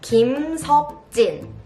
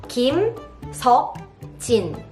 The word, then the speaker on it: Kim Seokjin: So the next member's name also starts with Kim, Kim Seokjin. Kim Seokjin.